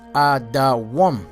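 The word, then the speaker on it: אדום: All right, the name Edom is Adawam. That's how it's spelled, Adawam, which the name Adawam means red, like the color of Esau's skin, red.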